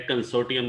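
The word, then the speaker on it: consortium: एक कंसोर्टियम arrangement, यहाँ बेटा आर साइलेंट है, कंसोर्टियम बोलते हैं इसे।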